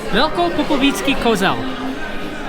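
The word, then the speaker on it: Velkopopovický Kozel: Velko Popovický Kozel.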